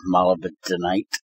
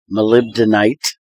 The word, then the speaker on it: molybdenite: because he added osmium as a byproduct of mala bentonite molybdenite as it should be pronounced I actually learned how it's properly done